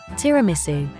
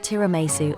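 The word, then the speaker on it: tiramisù: from there the word Tiramisu and then tiramisu to which the accent on the U was later added tiramisu is one of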